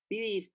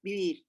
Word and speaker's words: vivir: V sound, now in Spanish, there is no differentiation between a V and a B. So it's all in between. So you have vivir, vivir, vivir. However, in Ladino, you differentiate between the B and the V.